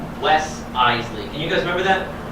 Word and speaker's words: Iseli: My last name is a little trickier, though. It's Iseli. Not Isel. Not Iseli. Iseli. 2 syllables.